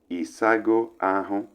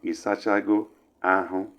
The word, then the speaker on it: isago ahụ: And the word we have here is isago ahụ. We can also pronounce it as isachago ahụ, which means have you washed your body, or simply have you taken your bath.